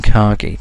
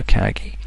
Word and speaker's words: Kagi: method we're looking at his Kagi I think you know how that's pronounced nor even cocky but we prefer Kagi this one uses lines